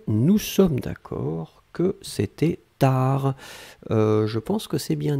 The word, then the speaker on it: tard: Hein, donc TARD, on ne prononce pas le D.